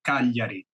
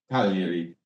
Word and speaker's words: Cagliari: So the proper pronunciation for the city is Cagliari. Cagliari. So Cagliari. A soft, sort of silent G.